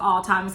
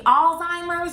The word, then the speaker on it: Alzheimer's: correct her she said you mean alzheimer's with a z when if you go